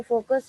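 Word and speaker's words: foci: यहाँ पर जो फोकस है, जो टू फोकस है, उसे फोकी कहा हुआ है, फोकी से प्रोनाउंस किया हुआ है।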